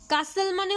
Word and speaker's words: castle: কাসেল মানে হচ্ছে CASTLE, কাসেল। এখানে টি এর উচ্চারণটা উজ্জ্ব থাকে, মানে কি আমরা উচ্চারণটা করি না টিটাকে, তাই এটাকে কাসেল বলি আমরা।